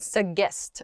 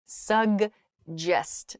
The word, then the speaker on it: suggest: pronunciation with this word there are two G's here it is not sest or sest or I don't even know I've heard some very strange pronunciations of this word it's sugest so there's a g sound G and then it's followed by a j sound suggest GJ quickly happens there suggest what do you